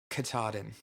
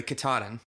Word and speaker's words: Katahdin: It's actually really close to the word kata.